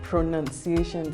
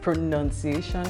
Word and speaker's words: pronunciation: yeah we've talked about pronunciation today so it's pronunciation yes not pronunciation exactly that needs to be